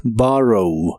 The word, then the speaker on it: borrow: El verbo tomar prestado en el presente de inglés es borrow. La primera O se pronuncia como una A profunda y suena como borrow. Borrow.